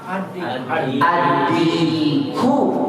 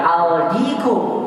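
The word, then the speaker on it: الديك: Kalau kita masukkan al, adiku. Kita tidak bilang aldiku, tapi apa? Adiku.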